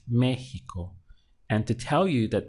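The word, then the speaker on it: México: that default setting they put the accent over the e to tell you that you need to stress that syllable and not the one before last so seeing the word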